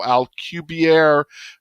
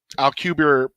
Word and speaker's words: Alcubierre: And so he did the math on this theoretical drive, and it's at AL Alpha Lima Charlie Uniform Bravo India Echo Romeo Romeo Echo Alcubierre Drive, I believe is how you pronounce it.